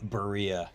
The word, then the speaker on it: Berea: if that's the right how do you say brayer Berea yeah oh yeah I think